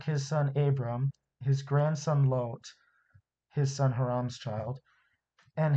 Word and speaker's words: Lot: of people pronounce it lot because in english called lot as in like a parking lot or a lot of people but it's actually lot because it comes from the original hebrew i believe all this